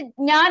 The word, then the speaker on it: ज्ञान: में तो विज्ञान बोलते, मलयालम में उसका प्रोनाउंसिएशन ज्ञान होता, ज्ञान, ज्ञानम, अज्ञानम, अर्व, जिस तरह उसका शब्द प्रोनाउंसिएशन ज्ञा, हम इजिली ज्ञा, लेकिन एक नॉर्थ इंडियन को ज्ञा प्रोनाउंस करने दिया तो वो ज्ञा ही बोलते हैं, विज्ञान ही बोलते, विज्ञान नहीं बोलते।